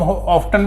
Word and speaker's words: often: हाउ ऑफन, इसको हम ऑफ्टन भी बोल देते हैं, परंतु अब ज़्यादातर ऑफन ही बोलते हैं, टी साइलेंट रखते हैं। ऑफ्टन में टी को जोर स्ट्रेस करना पड़ता है, जोर देना पड़ता है, एम्फेसाइज करना पड़ता है।